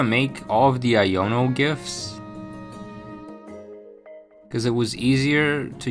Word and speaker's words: GIF: Oh, just pronounce it J like the peanut butter. GIF.